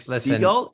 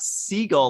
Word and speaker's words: Segal: I'm like, Seagull. She's like, "It's not seagull like the bird. It's seagull."